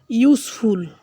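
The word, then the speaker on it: useful: ইউজফুল, এখানে ইউ উচ্চারিত হয়েছে।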